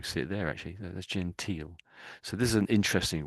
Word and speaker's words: genteel: So if I just we see it there actually that's gental. So this is an interesting word. So well not interested just another variation. So gental. So let's listen to them say gental.